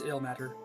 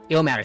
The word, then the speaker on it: Ilmater: I don't think that's how that word is pronounced, but I can never remember how it's spelled. It's ill matter. Ilmater, thank you.